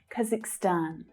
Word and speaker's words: Kazakhstan: Kazakhstan. So the stress there is on the final syllable.